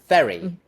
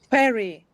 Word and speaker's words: very: So there's a difference in the vowel, of course, in the first syllable. In the first case, it's short, very, eh. In the second case, it's long, wary, eh.